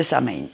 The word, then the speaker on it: Samhain: pour le sabbat de sain et oui je sais je le prononce à la française parce que moi excusez-moi